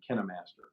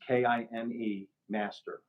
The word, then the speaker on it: KineMaster: about it kept saying KineMaster. So I'm assuming that is the correct pronunciation. Hmm. It's Kine Master, one word. So KINE.